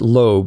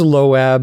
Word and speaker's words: Loab: about someone named loab i think you pronounce it loab l-o-a-b i'm not going to pronounce it loeb because that's like lisa loeb the singer from the 90s right but this is low ab it's kind of like moab i guess loab is a